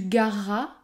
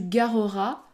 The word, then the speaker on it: gareras: futur comme dans tu gareras on ne va pas dire tu gareras le E disparaît dans ce cas là les deux R sont côte à côte et je prononce un r long tu